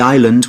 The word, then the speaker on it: island: to walk to the island without getting wet. Sounds good. The island's a great place to explore. It's to walk to the island. I-R-E. No. I-S. Good. I-S-L-A-N-D. Island. S is silent.